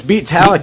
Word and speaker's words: Beatallica: It's Beatallica.